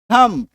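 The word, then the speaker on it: thumb: एम बी डम बी को काट दो है ना बी को पढ़ना नहीं है अब कहेंगे सर क्या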